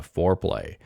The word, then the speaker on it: Foreplay: So they say here, Foreplay, pronounced Foreplay, is a desktop keyboard-oriented GUI front end for MAME designed for high-end Windows 11 systems.